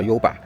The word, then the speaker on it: ゆば: 個東西，發音是一樣的，都叫優吧。